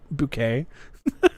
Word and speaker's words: Bucket: Her name is spelled Bucket. Everyone calls her Bucket, but she is like adamant about being called Bouquet.